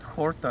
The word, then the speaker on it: horta: Horta. Horta is Because a verb or? in Greek you pronounce it horta, so it sounds like a Finnish word.